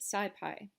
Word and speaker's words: SciPy: in the numpy documentation sidepi stands for scientific python and is pronounced scipy the scipy library builds